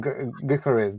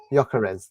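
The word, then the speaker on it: Gyökeres: There's uh how do you say his name? Garez. Garez. Gawkarez. Whatever. Yakarez. That's it.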